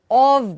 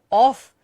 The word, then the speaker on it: of: Can you try and remember that it is not off, it is of. OF is pronounced as of and OFF is off.